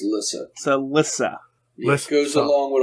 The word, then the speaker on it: Lissa: hospital he's with your sister Lisa which is spelled with two s's for some reason really yes is it Le no Lissa Lissa Lissa L Lissa you got to say